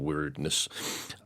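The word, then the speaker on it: Wyrdness: Basically, the weirdness, which is spelled W-Y-R-D-ness or weirdness, some overarching dark looming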